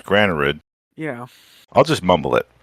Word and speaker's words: Granarud: If you say all the letters, it's Granarud.